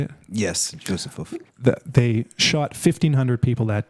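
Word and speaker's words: Józefów: Yes, Josefov.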